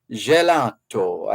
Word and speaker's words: gelato: a brand called Infini Gelato, and I believe the Italian pronunciation is gelato, Infini Gelato.